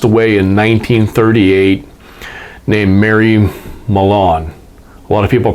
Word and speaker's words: Mallon: pronounce it more like malone but it's spelled like melon as in melon bank except for with an a instead of an e in the first syllable um she is better